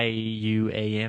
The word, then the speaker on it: yuan: The yen, not the yuan, but it's spelled Yuan, I think. It's a Chinese yuan, yeah. Yeah, it's yuan. That's what.